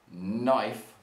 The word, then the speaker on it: knife: but the sound of this next item which is a knife begins with k but sounds like n and this is something called a silent k and this is a